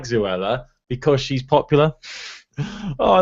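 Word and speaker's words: Zoella: But it's funny because my girlfriend now doesn't like Zuella because she's popular. Oh, I love it. I love that you say Zuella to rhyme with Zuella Cruella de Vil.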